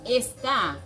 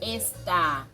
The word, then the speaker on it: está: Ici, dans esta, qui est écrit avec accent, qui est le verbe estar, on dit tu está, está. C'est-à-dire, on fait plus de force dans A.